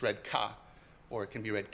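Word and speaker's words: 家: In Japanese it's pronounced ie when read alone. When read in a compound like this, it's read ka. Or it can be read ke as well.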